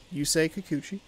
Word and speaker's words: Yusei Kikuchi: Make sure that I gotta pronounce it right. Yusei Kikuchi.